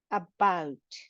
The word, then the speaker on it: about: well well way where about about here you can see that we are stressing on the vowel the second vowel or the second syllable of the word about many many then